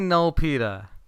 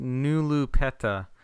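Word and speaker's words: Null Peta: And after that, I watched I want to say null pea. It It looks like null pa to me. It's n u l l p e t a null pea but it's it's actually pronounced nulu petta.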